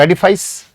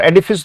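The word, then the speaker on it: edifice: तो एडिफाइस और एडिफिस दोनों उच्चारण है बेटा इसके।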